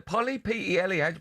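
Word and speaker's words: Pelé: Polly, P-E-L-E. How'd you pronounce that?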